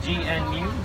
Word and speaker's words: gnu: Another name you might know a wildebeest by is gnu, spelled G-N-U. Some people like to pronounce it gnu.